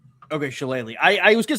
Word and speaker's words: shillelagh: Not the shillelagh. I always heard what is that? It's shillelagh. Okay, shillelagh.